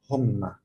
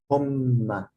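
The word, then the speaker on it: هما: This called dhamma, which means like it's pronounced o, like short vowel o. Humma. Humma. And this small w, it means that the letter is doubled.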